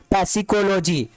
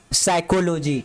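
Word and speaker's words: psychology: इसको पढ़ो, पैसिकोलॉजी, तो यहाँ पे पी वर्ड साइलेंट होगा, पी नहीं पढ़िएगा आप। क्या पढ़ेंगे इसको, साइकोलॉजी।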